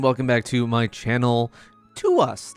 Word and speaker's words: TWS: back to my channel to us not twws I forget that I think last time I did just call them twws they're they're they're pronounced to us um with their song